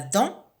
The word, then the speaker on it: dent: La dent, j'entoure le D à la fin de dent.